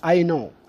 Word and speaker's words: know: الكلمة بعد حرف ان فإن حرف الكي لا ينطق. For example like يعرف، no no. For example I know، أنا أعرف I know.